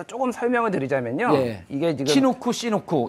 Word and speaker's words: 치누크: 이게 지금 시누크. 이제 치누크라고 한국에서는 발음을 하고 있고요. 미국에서는 이제 시누크라고 발음을 하는데요.